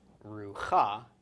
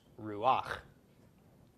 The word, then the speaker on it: Ruach: pop rock underneath it so this is not pronounced Ruka but instead pronounced Ruach okay and Ruach is